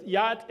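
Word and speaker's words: Yá'át'ééh: So Yat-e is the hello. Yeah, it's three syllables.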